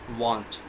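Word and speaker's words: won't: Here is an example of contraction WON apostrophe T. We will pronunciate it want.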